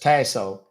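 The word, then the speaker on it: Tasohl: Thomas y like Yankee last name is t a s o h l it's pronounced tasso and my email is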